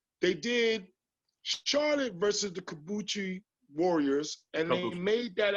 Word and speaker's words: Kabuki: Kabuki? There it is. Not Kabuki.